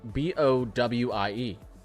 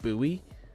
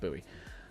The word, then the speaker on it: Bowie: There's a city in Texas called B O W I E. And I pronounced it Bowie. And apparently it's pronounced Buoie.